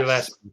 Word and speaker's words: Gillespie: Gillespie, that's how you pronounce it.